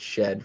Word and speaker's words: Shead: Cade Gregory says college announcers pronounced it Shed for years for what it's worth.